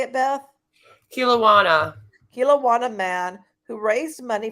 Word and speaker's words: Kelowna: So, a Kelowna man. Is that how you say it, Beth? Kilowana.